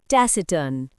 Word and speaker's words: taciturn: इसका प्रोनाउंसिएशन है टैसटर्न।